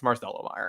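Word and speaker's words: Marcelo Mayer: It's Marcello Meyer. And so it's JAC Caglione, and we're not pronouncing anybody's name wrong anymore.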